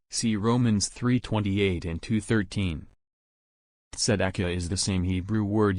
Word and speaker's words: tzedakah: According to the Bible, the word righteousness is pronounced tzedakah.